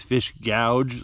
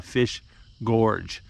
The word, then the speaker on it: fish gorge: tie your string now i'm gonna mispronounce this fish gouge like a billion times in this video but it's called a fish gorge we're gonna go see